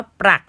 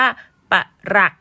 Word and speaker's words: ปลัก: คะ คำ พ้อง รูป คำ ว่า ปลัก ถ้า หาก ว่า อ่าน ว่า ปัก หมาย ถึง เงิน ค่ะ แต่ ถ้า หาก ว่า อ่าน ว่า ปะ หลัก ก็ จะ หมาย ถึง ผุ พัง หรือ ว่า หัก ไป อย่าง เช่น คำ ว่า ประหลัก